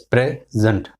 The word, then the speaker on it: present: Give more air or breath or emphasis on the second. And in the noun, you will put on the first syllable.